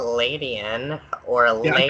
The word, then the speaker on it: Ledian: There's 4 different pronunciations for Lady. I call it Ladian, or Yeah, I call Ladian, or Ledian.